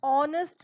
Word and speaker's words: honest: a silent H now in words where H is silent you don't speak the letter H you don't have the